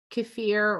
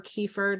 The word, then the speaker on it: kefir: cider vinegar we use kefir or kefir depending on where you're from in the world how you pronounce it um ground up pumpkin